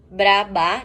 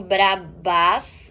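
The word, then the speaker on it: bras bas: Mesma coisa, não se fala o S no final. Brabá, não brabás ou brasbás, pior ainda.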